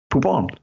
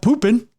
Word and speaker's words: Poupon: Poupon. Not poopin'.